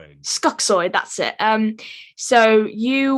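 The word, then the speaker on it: Skuxxoid: you said before you played the character of scookzoid or skuxword i can't remember how you say his name skuxoy that's it um so you were cast to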